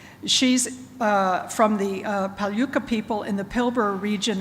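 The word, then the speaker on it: Palyku: She's uh from the uh Paluka people in the Pilbur region of Western Australia. Have I pronounced Paluca Paluka properly? That's Paloo. Palu. Nothing like it spelled looks like.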